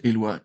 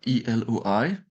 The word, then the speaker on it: Eloi: So Eloi, my name is pronounced Eloi, Eloi.